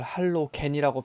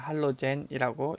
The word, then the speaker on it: 할로젠: 나 때는 말이야 이걸 할로겐이라고 배웠는데요. 이제는 할로젠이라고 읽어요.